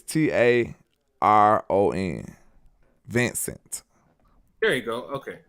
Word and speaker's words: Taron: I don't know how you want to pronounce that. It's Taron.